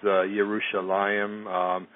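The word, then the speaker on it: ירושלים: the Hebrew alphabet, and anything that's usually spelled with a J is usually starts with a Y in Hebrew. For instance, Jerusalem is Yerushalayim, Joshua is Yehoshua, so on and so forth.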